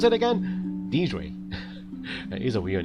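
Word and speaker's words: Deirdre: Wait, how do you pronounce it again? Deidre.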